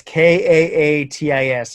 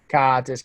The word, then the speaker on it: Kaatis: It's Kaatis. In Finnish, they pronounce every single letter, like every single. So it's Kat is Kaatis.